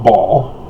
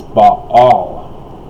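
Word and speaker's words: Baal: they always say ball no it's not ball it's ba all there's a little iron that is the guttural and i'm not even pronouncing it correctly myself but at least i know but all and uh they're lying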